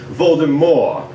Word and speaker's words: Voldemort: that your name was supposed to be pronounced with a silent t at the end like voldemort as in more [